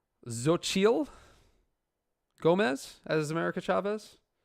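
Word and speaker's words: Xochitl: i think it's pronounced zochiel gomez as america chavez it's x-o-c-h-i-t-l i think it's pronounced zochiel i am not positive though it's a hell of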